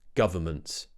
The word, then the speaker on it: government: we're not saying meant I know the spelling makes you think it might be meant but it's actually Mt M government government the government announced